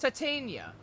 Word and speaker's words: Titania: but apparently it's pronounced Titania so yeah like titanium titanium I've been doing so much according to google google pronunciation is Titania so and you believed